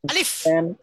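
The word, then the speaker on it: ألف: আলিফ আলিফ আলিফ আলিফ এই হরফের উচ্চারণে শেষে গিয়ে উপরে দাঁত লাগান নিচে ঠোঁটে পেটে লাগবে বাতাস বের হবে আলিফ আলিফ আলিফ আলিফ অনেকে দুই ঠোঁট মিলে বলে কি আলিফ এটা ভুল দুই ঠোঁট মিলবে না উপরে দাঁত রাখার নিচে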